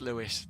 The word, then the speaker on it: Lewis: got a message saying, you're saying his name wrong. I was like, what am I doing? What am I doing? But yeah, it's Lewis.